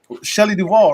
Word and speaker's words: Shelley Duvall: to the next topic the next topic is Shelley Duvall right that's how we say her name Shelley Duvall I mean Shelley Duvall the iconic the iconic co-star of The Shining